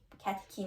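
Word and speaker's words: catechin: خب کتکین همیشه CH کین تلفظ میشه. اینو حواست باشه.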